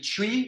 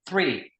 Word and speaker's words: three: Pour prononcer le 3 correctement, tu vois, c'est un TH. C'est un TH, et le TH, pour le prononcer correctement, tu mets ta langue entre tes dents et tu le prononces. Three.